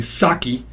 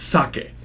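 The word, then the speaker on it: 酒: it more polite and you've heard Americans say uh or or westerners or non-japanese people say saki I drink saki it's sake sake is the way to say it uh so a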